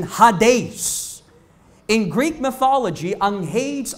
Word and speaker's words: Hades: po yung lugar na kung tawaging haes or yyung tamang pronunciation Hades in Greek mythology ang